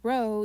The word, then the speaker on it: rho: limit, or in Rutgers we say rho, even though it's a p, but we pronounce it as rho.